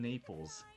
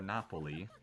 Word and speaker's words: Napoli: cuz we were in Naples or Napoli if if you want to say it properly.